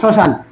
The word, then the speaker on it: শ্মশান: তাহলে শ্মশানও কি, এটা অনেক কমন, শ্মশান। তাহলে কি হয়ে যাবে, শ্মশান। মফলা উচ্চারিত হবে না, শ্মশান।